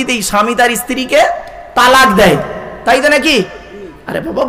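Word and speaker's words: طلاق: গেলে একে অপরকে কি দেই স্বামী তার স্ত্রীকে তালাক দেয় তাইতো নাকি আরে বাবা বলুন না বউ যাবে না ভয় নেই আমি আছি এখানে অনেকে ভয়েতে বলতে চাচ্ছে না আচ্ছা চলো বাপ তালাক দিই শব্দটা কিন্তু তালাক নয় শব্দটা তালাক নয়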